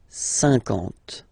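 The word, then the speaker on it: cinquante: Remember that you get this QU, but then you don't pronounce the U. And then you get the nasal, un, and then en. 50, 50.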